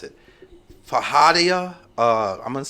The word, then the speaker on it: feijoada: Maybe you guys, I can't even pronounce it. Fajada. I'm going to spell it. It's Feijoada. Never heard of it. Feijoada.